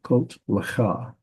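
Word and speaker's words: קָטְלְךָ: This is a closed, unaccented syllable, so it's kot. That means this schwa is vocal, kot lecha, kot lecha.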